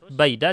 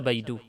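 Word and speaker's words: بَيْدَ: Maka bacanya harus baida, tidak bisa baidu. Pasti selalu baida, bukan baidu.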